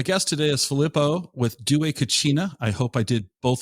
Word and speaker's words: Dué Cucina: The name of the company is Dué Cucina, and you said it right.